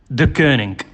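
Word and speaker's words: Deceuninck: with chief inspector Rob hatch for the definitive pronunciation of quick steps new title sponsor the gurning de Kooning the gurning thank you very much indeed -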